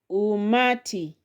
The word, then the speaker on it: umati: The other word here is umati has three syllables. So the second from the end is ma umati.